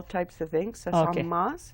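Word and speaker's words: Saamis: Samas is Okay. the way you pronounce it in Blackfoot, and literally means medicine man's war bonnet.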